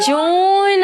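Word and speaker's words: June: जी फरवरी, मार्च, अप्रैल, जून। अरे बबलू हद है भाई। जून एक महीना है जिसको मतलब नाम उसी तरह लिखा जाता है लेकिन इसको प्रोनाउंस किया जाता है जून।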